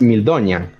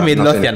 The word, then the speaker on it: Midlothian: un corazón, justamente, basado en el Heart of Mildonian, que el corazón de Mildonian sería la traducción. ¿Midlothian? Un mosaico. ¿Midlothian? ¿Cómo? Creo que es Midlothian. Lo pronuncié mal. Puede pasar. Es Midlothian.